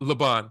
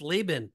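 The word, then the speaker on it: Laban: in say it again no leban Leon no it's laan oh my goodness you're killing me laben so there should be there should be a line over the a the first aan yeah or both of them actually it could be Leon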